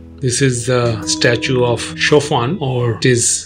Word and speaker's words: Chopin: famous shaen Memorial this is the statue of chaan or it is spelled as c h o pin he was